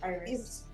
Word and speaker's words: Iris: Is it Iris or Iris? It's Iris. Iris? Iris in Spanish, but it's Iris.